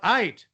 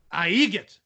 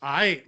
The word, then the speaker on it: aight: No, you're Count Ait. Aigit. He's pronouncing A-I-G-H-T as it really, looks. Aigit. No, it's Ait. Like everything's all right. Like everything's Ait.